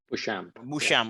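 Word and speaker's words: Beauchamp: you pray is this french how do you pronounce jonathan's last name from gmu musham okay the church intensive kinship and global psychological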